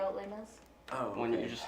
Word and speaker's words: Les Mis: I don't know how to say it in French. Les Miserables. Les Oh, Mis. Oh, Les Les Mis. Mis. Les Mis. I always say Lesme.